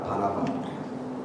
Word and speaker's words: 바나바: 근데 바나바는 이 발음을 잘해야 돼. 바나나가 아니라 바나바.